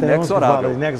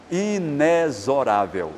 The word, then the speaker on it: inexorável: também que falam que nexorável então para esses dicionistas o recomendável ou o correto no caso desta palavra é pronunciar-se inesorável são dizer na letra x Mas você já ouviu